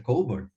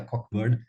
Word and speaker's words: Cockburn: que o o alister coburn né que se escreve sobrenome dele se escreve c o c b u r n mas não é cockburn é coburn ele Aliás ele sempre